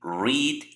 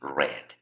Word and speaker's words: read: Por ejemplo, el verbo leer va a tener ambas pronunciaciones. El verbo leer tiene la E, la A y la D. En presente se lee read y en pasado se lee read. La pronunciación es lo que diferencia el presente del pasado.